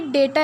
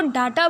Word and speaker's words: data: अब एक्चुअली ना ये डेटा है, इसकी प्रोनाउंसिएशन में ना बहुत लोग प्रॉब्लम करते हैं, इसको डाटा पढ़ते हैं। देखो डाटा नहीं होता है, ये ना डेटा होता है, ठीक है।